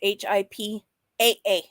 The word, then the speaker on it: HIPAA: I'm not going to spend too much time looking for it, but hey, if you're going to say it, Sam, say it right. It's HIPAA.